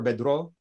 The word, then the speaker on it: bedro: bedro is thai so the way that i remember bedro bedro is rhymes with low low is the opposite